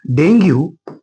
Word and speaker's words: Dengue: देखो इसको डेंगू भी बोलते हैं, इंडिया में डेंगू बोलते हैं हम, लेकिन इसका pronunciation English word, American English या फिर अफ्रीकन इंग्लिश में इसका डेंगी बोला जाता है, डेंगी।